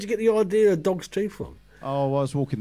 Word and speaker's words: Dogs Teeth: how you pronounce it it's not dogs's teeth it's dogs teeth like that what sort of dogs